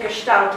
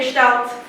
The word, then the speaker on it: Gestalt: But we also have a different way, which is called Gestalt language learning. Okay, Americans say Gestalt, British say Gestalt, I can't decide.